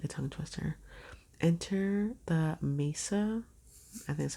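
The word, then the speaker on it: Maesa: how you say that it's m a e s a Mesa that's what I want to say cuz Mesa I don't know but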